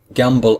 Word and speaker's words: gamble: I n G gambling gamble at the end has a silent e it has a letter e that we do not hear and so we delete